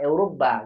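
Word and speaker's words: أوروبا: Jadi Urubah bukan Eropa, Urubah gitu bacanya.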